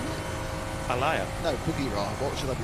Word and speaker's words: Buggyra: It's like the jungle cat. It should be an H. BUGGYRA. 2 G's and a Y. But at Monza, I asked the team, how do I pronounce it? And they said it's BUGGYRA, like the animal.